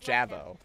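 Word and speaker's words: J'avo: platoon is one of those now uh it's pronounced javo come on we have to get out of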